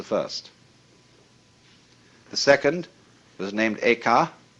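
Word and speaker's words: 慧可: The second was named Eka, I'm using the Japanese pronunciation, who was formerly a general of the army.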